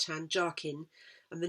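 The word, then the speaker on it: Jachin: means strength and uh what i'm told by a mason friend of mine is pronounced jarkin j-a-c-h-i-n which means to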